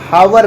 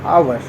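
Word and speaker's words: hour: नहीं पढ़ने ठीक है इसको हम हावर नहीं पढ़ने मतलब ये गलत वजह से पढ़ना है इसको हम पढ़ने हैं अवर ठीक है अवर पढ़ने हैं हा यहां पे साइलेंट हो जाता है तो एक ओ यू आर की तरह ही पढ़ा जाता है इसीलिए यहां पे आर्टिकल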